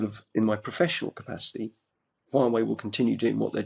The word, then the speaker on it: Huawei: Well, I think you're going to be and are a tremendous asset to Huawei. I say that because I wanted to prove that I could pronounce it correctly.